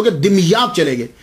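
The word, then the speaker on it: دمياط: तो ये सैयद जमालुद्दीन साउजी फिर वहां से मुंतकिल हो गए, दिमयात चले गए। इसके बहुत सारे प्रोनाउंसिएशन हैं, लेकिन सबसे जो आसान है वो मैं आपको बता रहा हूं, दिमयात।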